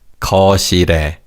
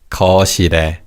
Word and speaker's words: 거실에: Notice how the 리을 in the second syllable carries over to the third syllable. It's 거실에, 거실에.